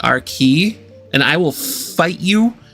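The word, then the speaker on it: Arcee: Okay, so you can pronounce it RC if you want, but the transformer is pronounced RKey, and I will fight you to the death standing on that hill. It is pronounced RKey.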